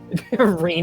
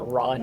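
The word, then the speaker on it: Rean: Reen is now pronounced Ron and Daybreak. Get used to that.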